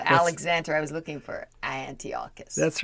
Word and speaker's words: Antiochus: I'm not sure what it rhymes with, but it's Antiochus.